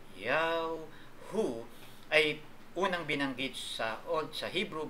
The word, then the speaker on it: Yahu: YHWH in English alphabet, na ang tamang pagpronounce ay Yahu, ay unang binanggit sa Hebrew Bible noong sa Genesis chapter 2 verse 4.